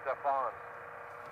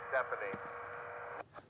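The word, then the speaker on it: Stéphane: record today good morning the French team's writer's name is pronounced Stefan instead of Stephanie thank you I appreciate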